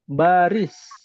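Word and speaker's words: باريس: Paris bahasa Arabnya baris karena tidak ada huruf P. Dalam bahasa Arab itu nggak ada huruf P, makanya dibacanya P itu jadi ba. Baris.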